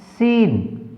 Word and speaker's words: scene: देखिए SCENE सीन, तो सी क्या है, ये साइलेंट है।